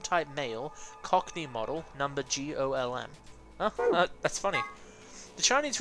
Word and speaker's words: GOLM: Much to his surprise, this ends up being pronounced like golem anyway. On a side note, GTMCMGOLM stands for Golem Type Male, Cockney Model, number GOLM.